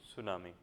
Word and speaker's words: tsunami: Over here, the word tsunami, before as this letter T is silent. So, for that we have to read tsunami.